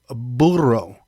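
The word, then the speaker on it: burro: is a bll no a Boro Boro yeah okay almost like a burrito but not all right I'll take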